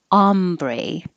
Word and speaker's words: ombre: in new york bristidis if it's referring to the color the shadings of changing of tones of color like for um clothing or hair it's ah ombre ah if it's spanish with